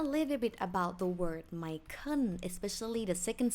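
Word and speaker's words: ไมเคิล: has no no sound so instead of saying michael we say my khan taiwai mai khan i would like to explain a little bit about the word my khan especially the second syllable khan as i explained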